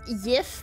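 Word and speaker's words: Jif: No, it's pronounced Yif, but it's spelled with a J.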